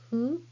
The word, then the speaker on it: ふ: This is hiragana hu. Hu is not a fricative sound like English F sound. It is more like blowing a candle very gently. Your mouth looks like U shape and say hu.